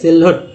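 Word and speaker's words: silhouette: अब चलिए दोस्तों यहाँ पर देखिए सिलॉट, ठीक है सिलहुट, ठीक है सिल सिलहुट, क्योंकि ये जो है यू यहाँ पर साइलेंट है सिलहुट।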